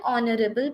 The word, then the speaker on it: honorable: our principle is an honorable person why we are using and here because our you know honorable the pronunciation is starting with o that is a vowel sound our principal is an